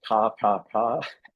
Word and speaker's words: KKK: They would have pronounced it ka ka ka because that's how you say the letter K in Tagalog.